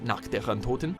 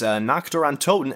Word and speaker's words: Nacht der Untoten: Nacht der Untoten. Oh, okay, so you're just trying to pronounce it the right way.